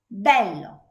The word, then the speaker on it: bello: So this one is closed, E, sereno, and this one is open, E, bello.